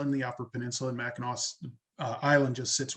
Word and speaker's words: Mackinac: in the edibles category there yeah um so mackinaw island and you pronounce it correctly uh it's an island right